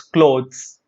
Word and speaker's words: clothes: is not cloth it's clothes clothes there's a z sound there goods earnings savings riches